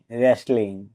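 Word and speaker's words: wrestling: এখানেও ডবলিউর পরে আর আছে তাই ডাবলিউ লেটার সাইলেন্ট থাকবে ডবলিউ আর এটি রাত অর্থ রাগ ডবলিউ আরই এস টি এল আই এনজি রেসলিং এ শব্দটা বহু পরিচিত এটির অর্থ হল কুস্তি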